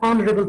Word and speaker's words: honorable: H is a consonant letter, but in many of the words, H is silent, like our, honest, higher, and honorable person.